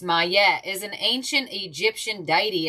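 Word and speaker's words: Maat: May pronounced Mette is an ancient Egyptian dity associated with truth, harmony, and balance.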